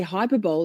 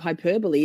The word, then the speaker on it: hyperbole: Every The number of times I say hyperbol instead of hyperbole is not even funny.